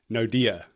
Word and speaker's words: Naude: Okay, so I want to make sure I'm pronouncing your name correctly. I'm going to give it my best shot now. Naude, is that right?